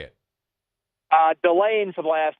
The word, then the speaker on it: Delane: what's the last name here I've heard it pronounced like four different ways Delan Delaney Delon how do we say it uh delay for the last name the first name is